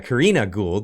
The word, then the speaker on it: Karina Gould: So Gould gets up, the leader, Karina Gould, that's how you pronounce her name, gets up and says, well, let's not make this a partisan issue.